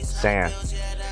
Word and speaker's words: T$AN: Say my name, it's just Tsan. Like Tsan with no D. Or like it's like tsunami, the T is silent. It's no, don't say the T.